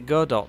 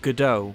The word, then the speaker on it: Godot: We banded around a few different options, including Unreal and Godot, and yes, I pronounce it Godot, not Godot, because A, it has a robot in the logo, and B, I am neither French nor a pretentious hipster neckbeard.